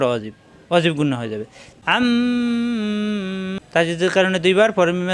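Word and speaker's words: عَمَّ: তাসদিদ গুন্না পর ওয়াজিব ওয়াজিব গুন্না হয়ে যাবে আম্ম তাজিদের কারণে দুইবার পরে মিমে আছে জবর মা এই মা কোন টান নাই আম্মা আনন্দে চাপ দিয়ে আম্মা ইয়া জবর ইয়া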